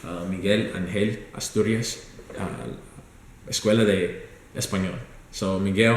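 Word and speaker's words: Miguel Ángel Asturias: So I found a school, Miguel Angel Asturias, in Spanish to say it correctly, Miguel Angel Asturias, Escuela de Español.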